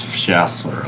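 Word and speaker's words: FSHASLR: You'll usually see this one referred to like abbreviated to F S H A S LR, which is usually pronounced as Shassler, like reference to a plot going Christmas.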